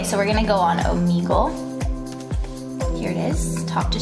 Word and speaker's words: Omegle: Is that how you pronounce it? Yeah, Omegle.